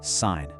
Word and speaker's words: sign: Think about the word sign. The G is totally silent, right?